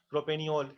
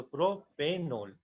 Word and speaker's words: propanol: प्रोपेनियोल क्या होता है? उसका कुछ होता नहीं है, तो इसको ई को हम हटा देते हैं जानबूझ के ताकि उसको प्रोनाउंस करने में अच्छे से लगे। तो प्रोपेनोल, प्रोपेनोल।